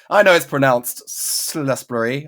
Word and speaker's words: Salisbury: I know it's pronounced Salisbury, okay?